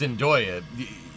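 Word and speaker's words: Andøya: It's Andoya. Yeah, this is the Andoya Space Center. It's way up in northern Norway, like 69 degrees north. That's really far north. Andoya Lofoten Islands.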